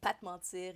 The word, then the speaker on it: Pa T'mentir: And Pat Mentir is spelled P-A-T, comma, M-E-N-T-I-R.